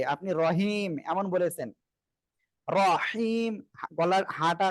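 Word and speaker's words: رحيم: আমি তো এখানে বলি নাই এই যে আপনি রহিম এমন বলেছেন রহিম গলার হাটা গলাটা চেপে উচ্চারণ করতে হবে আচ্ছা আমি আবার পড়ি আবার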